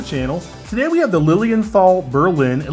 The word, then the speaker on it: Lilienthal: today we have the lilienthal Berlin at least I think that's how you pronounce it it's either Lilienthal or Lilian tall Berlin model lc1 and